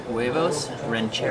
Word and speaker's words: huevos rancheros: huevos rancheros.